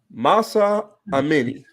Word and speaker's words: Mahsa Amini: She deserves to have her name pronounced properly. Mahsa Amini.